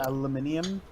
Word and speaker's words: aluminium: Aluminium. Aluminium, yes, that is how you pronounce the word because it has a fucking Yes, I in it.